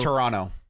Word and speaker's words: Toronto: show ahead of the time it was it's pronounced Toronto whatever we don't pronounce the heart T at